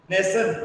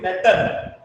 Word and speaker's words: nation: So TI is pronounced as S. Nation. We are not telling Natan. We are telling nation.